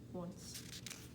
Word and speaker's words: once: a few irregular parts the o makes a w sound and c e makes the s sound once so then we would